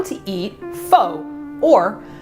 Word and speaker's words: pho: and how to eat fax or how you should say it f f if you're having a hard time remembering that I don't blame you it's spelled p h o and we're actually using